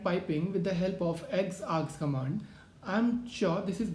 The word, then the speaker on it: xargs: towards x args command it is actually written as x a r g s which we pronounce as x args so let's go back